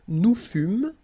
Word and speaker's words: fûmes: Okay, then, nous fûmes, final S not pronounced.